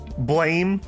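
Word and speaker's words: Blame!: Okay, if you have never read um Blame or Blam depending on how you want to pronounce it, the manga or I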